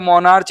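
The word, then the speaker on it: monarch: याद कर सकते हो मोनार्च या मोनार्क वैसे उच्चारण इसका मोनार्क होता है।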